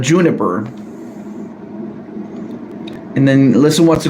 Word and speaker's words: Juniper: I know some people accidentally call Juniper Jupiter or mispronounce her name as Jupiter, but Juniper.